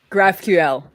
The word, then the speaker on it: GraphQL: and get some references and get them into graphql graphql yes that's what i was trying to say the graphql and then on the stream after that we